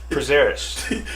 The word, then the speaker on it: Prazeres: Prazeres.